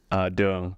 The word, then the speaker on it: Duong: Duong. Duong? Yeah. Oh, yeah, that's pretty good. Yeah. Duong.